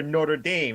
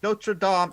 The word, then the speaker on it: Notre Dame: a fighting Irish college Notre Dame is the cathedral in France remember that pronunciation that's the key difference here the other one is pronounced American yeah it's funny because